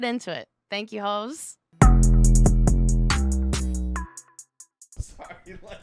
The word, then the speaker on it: Haux: Thank you, hoes. Sorry, Let me spell it. Yeah. H-A-U-S, house. H-A-U-X, ho.